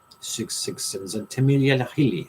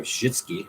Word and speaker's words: Csikszentmihalyi: Mahile Csikszentmihalyi. How do you say that? It's pronounced Csikszz. So Shitsky or something. Csikszentmihalyi.